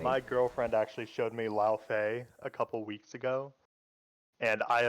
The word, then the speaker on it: Laufey: I've just never heard how to pronounce her name. Lao Fei. Laufey.